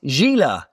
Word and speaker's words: Gila: Yeah, this one is Gila. It rhymes with tequila.